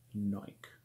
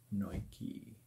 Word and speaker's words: Nike: These are from a brand called Nike, or Nike, or I believe the pronunciation is disputed.